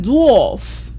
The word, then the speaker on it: dwarf: For AR, we have AR saying or as in dwarf. Dwarf. Dwarf is spelled D-W-A-R-F. That word is dwarf. You don't go saying dwarf. The AR says or.